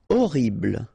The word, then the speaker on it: horrible: Horrible. Okay, remember we don't pronounce H here.